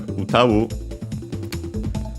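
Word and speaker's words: 歌う: Uh but yeah, first and foremost we have utawu uh which is the verb which means uh to sing uh unacented uh there's also uh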